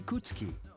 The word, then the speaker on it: Ikutsuki: My name is Ikutsuki. I'm the chairman of the board for your school. Ikutsuki. Ikutsuki. Hard to say, isn't it? Ikutsuki. Definitely sounds completely different than the way it's spelled.